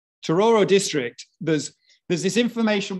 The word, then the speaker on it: Tororo: from that district so this is togoro uh tororo sorry i do like that pronunciation right tororo district there's there's this